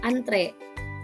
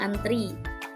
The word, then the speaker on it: antre: Kata baku antre, ternyata kita lebih sering bacanya antri.